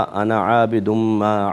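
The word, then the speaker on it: أنا: देखें जिस किरात को आजकल हमारे यहां फॉलो करते हैं उसमें इस अलिफ को साइलेंट पढ़ा जाता है। गोया कि लंबा नहीं खींचा जाताना। नून ज़बर ना पे ही बात खत्म हो जाती है।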